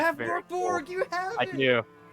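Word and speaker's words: Mörk Borg: They just recently released an adventure and a free version of the tabletop RPG Morkborg. I'm not sure if that's how you pronounce it. It's M-O umlaut R-K-B-O umlaut Merc? R-G. Morkborg.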